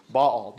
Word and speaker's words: Baal: the Canaanite god Baal Baal ba a apostrophe a l two syllables uh here's a couple